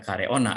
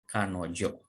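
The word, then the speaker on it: 彼女: Karena di sini ada ona perempuan, tidak dibaca kareona ya, tapi dibacanya menjadi kanojo.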